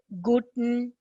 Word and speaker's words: Guten: Here, if you see Guten, you have to really remember how it is. It is like Gut apostrophe N. That is the pronunciation.